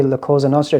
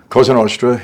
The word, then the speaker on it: Cosa Nostra: I believe you were inducted would you say Laos orra is that how you say it or Ken ostra yeah it was actually on uh October 31st